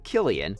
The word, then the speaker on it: Cillian: and tv business killian which yes is actually pronounced killian was entertaining fans on stage when he once